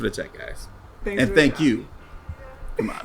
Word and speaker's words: Kumail: other things about Issa Rae, send us your pronunciation of Kumail Nanjiani's name.